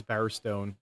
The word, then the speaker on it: Bowerstone: That lady said Stein earlier, and it's Bowerstone.